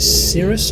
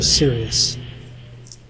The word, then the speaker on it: Sirrus: Is it Sirrus or Sirius? Sirrus, like the cloud. Right, I keep wanting to say Sirius from the Harry Potter series. But it's spelled with an S, not a C.